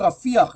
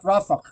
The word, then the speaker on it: Rafah: And by the way, it's called Rafiah, not Rafah. American people don't know how to say it.